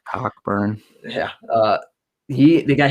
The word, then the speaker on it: Cockburn: you know they got kofi coburn how the announcers say his name anyway cockburn yeah uh he they